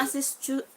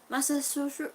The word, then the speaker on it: Massachusetts: Massachusetts. Don't get upset. Massachusetts.